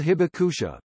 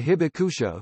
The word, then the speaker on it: Hibakusha: Hibakusha the survivors of the bombings are called Hibakusha babe ouch a Japanese pronunciation so baka a Japanese word that literally